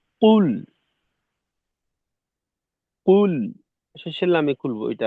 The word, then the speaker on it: قل: আচ্ছা কাউসার ভাই, উম, প্রথমত হলো এই কফের উচ্চারণটাকে একেবারে ঠোঁট গোল করে কুল, কুল, শেষের লামে খুলবো, এটা আলাদা বিষয়।